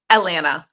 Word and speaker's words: Alanah: Atlanta. Atlanta. Okay. I knew I was going to pronounce that wrong.